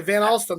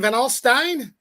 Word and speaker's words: Van Alston: on my own pronunciation I'll say van Alston to go you mean van alstein no I'm pretty sure I know how to say my name all right so tell